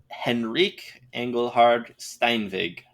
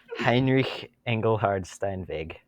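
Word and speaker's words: Heinrich Engelhard Steinweg: created in Manhattan New York in 1853 by Henrique Engelhard Stein Vig okay you know what we pronounced that wrong okay you want to pronounce it for the Heinrich Engelhard Stein big but his American name was Henry angle hard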